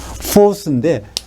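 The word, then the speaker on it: φῶς: 정확히 말하면 이게 F 발음이니까 포스인데 이 포스는 헬라어로 빛입니다.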